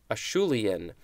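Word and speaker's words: Acheulean: the same way next is how do we pronounce this one Shu lien eschew lien ACH EU l EA n or l IA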